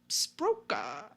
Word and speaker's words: Sbrocca: According to Kahlo, he and Majors had been hired to murder Angelo on the orders of Romano Sbrocca.